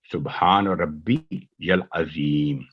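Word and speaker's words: سبحان ربي العظيم: تو اس کا صحیح تلفظ یہ ہوگا سبحان ربی یل عظیم.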